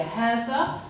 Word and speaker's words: هذا: فأصلا سأكرر، نلفظ الألف ولا نكتبها في بعض الكلمات، مثلا لكن وهكذا، ونطبق هذه القاعدة على 17 كلمة هي هذا، هذه، هذان، هذين، هؤلاء،